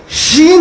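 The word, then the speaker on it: ش: প্রথম অক্ষর কি শিন শিন যখন উচ্চারণ করবেন যারা মাখরাজ বুঝেন তারা বুঝতে পারবেন শিনকে আরবি ভাষায় বলা হয় হুরুফুত তাফাসসি হুরুফুত তাফাসসি মানে যে অক্ষরগুলি উচ্চারণের সময় তার আওয়াজটা ছড়িয়ে ছিটিয়ে যায় শিন যখন আপনি উচ্চারণ করছেন তো এই আওয়াজটা ছড়িয়ে ছিটে যাচ্ছে এর উচ্চারণটা আপনার ছোট ছোট ছিদ্র দিয়ে বের হয়ে আসছে তো আল্লাহ রাব্বুল আলামীন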